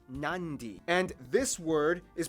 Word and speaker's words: Nadi: And just remember, in the Fijian alphabet, C makes the th sound, D makes the nd sound, B makes the mb sound.